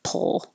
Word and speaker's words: pull: and bully you can make your l position first and then make the p app pull so that when you release your lips for the p pull you're already making the l noise that's it pull well